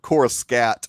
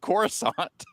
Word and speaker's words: Coruscant: wall I guess that's better than saying Cora scat or something it's how it was pronounced because no one because no one but George pronounced it Coruscant okay what Brian's got